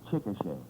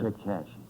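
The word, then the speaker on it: Chickasha: I No, the name is pronounced Chicochet. Chicochet. Yeah. Oh, well, I'm very happy to. Chickashi. Well, it could just as well be Chicashi, you know.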